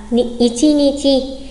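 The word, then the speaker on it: いちにち: Nếu ngày mùng 1 đọc là tsuitachi thì một ngày lại là ichinichi.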